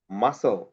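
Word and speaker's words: muscle: আবার দেখো এম ইউ এস সি এল ই, এখানে এস এর পরে সি আছে, এই জন্য সি এর সাউন্ড সাইলেন্ট হয়ে গেছে। মাসল, scissors, scene, scissors, scene, মাসল।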